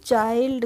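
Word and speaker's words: child: को भी कैसे पढ़ेंगे चिल्ड नहीं पढ़ेंगे हम किसको पढ़ेंगे इसको पढ़ेंगे हम चाइल्ड कैसे पढ़ेंगे सी एच आई एल डी चाइल्ड next word है एम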